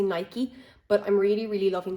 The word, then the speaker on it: Nike: I say Nike, others say Nike, but I'm really, really loving their trainers at the moment.